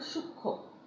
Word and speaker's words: সূক্ষ্ম: হ্যাঁ, যুক্ত ব্যঞ্জন বর্ণের সঙ্গে যদি ম ফলা যুক্ত থাকে তবে সেই ম ফলার উচ্চারণ হয় না।